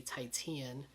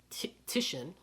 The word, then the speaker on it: Titian: I used to say Titian, but it's apparently you actually say it Titian.